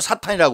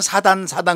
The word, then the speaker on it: 사탄: 마귀를 갖다요 영어로 사탄이라고 그래요. 근데 어떤 책에는 사단 그러는데 사탄이라는 게 더 좋아요. 왜냐면 영어에 SAT니까 T 발음을 T로 하는 게 좋죠. 그래서 사탄 액센트가 들어가는 게 좋습니다.